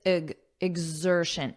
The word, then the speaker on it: exertion: at the pronunciation because notice you have X but that's not how it's pronounced it's pronounced as IG exertion IG exertion exertion exertion